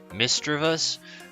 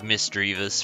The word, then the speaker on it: Misdreavus: Rivas and Miss magia sand if you're gonna be one of those people I know that it's like correctly pronounced mister of us but I've been saying like misdreavus for 20 years so it's kind of